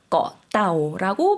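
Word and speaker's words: เกาะเต่า: 꺼따오라고 발음해 주시면 되겠습니다.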